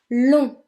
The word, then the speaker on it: long: Number 9, long. Long, which means long. Now again, the G being as it's the last letter and it is a consonant, it is silent.